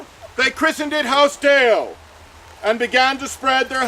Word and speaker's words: DAOS: The word is pronounced Deo.